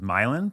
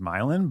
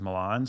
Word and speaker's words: Milan: Well, you say it like 99.9% of the world, which is, I guess, right. But the way my parents have always said it, or the way it's really pronounced, is Milan, because we're from an Eastern European country. Huh. So I guess for whatever reason, the pronunciation's Milan, but everybody says Milan, so I've just kind of adopted that.